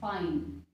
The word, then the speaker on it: fine: आज का अगला वर्ड है हमारे पास में FINE, फाइन। FINE, फाइन। फिन ना पढ़े इसको, फाइन पढ़ेंगे।